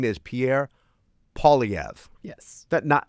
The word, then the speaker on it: Poilievre: His name is Pierre Poilievre. Yes. So I do the OI, so I was like Poix, like it's Quebec. Poix. Shouldn't we do a Poilievre.